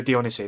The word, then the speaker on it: Dionisi: Now obviously they got Alessio Di Dionisi. I think I Dionisi. Alessio Dionisi, that's how you say it.